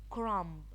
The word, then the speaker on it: crumb: here again it's silent crumb crumb the be silent lamb lamb the B